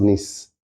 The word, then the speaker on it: Nice: And then I heard a lot of people because so the what the name is pronounced nice, right?